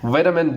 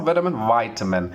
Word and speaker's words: vitamin: we go talk about vitamin deficiency, etc., and these sort of things. So we say that vitamin. It's not vitamin. Vitamin is the correct pronunciation for this word.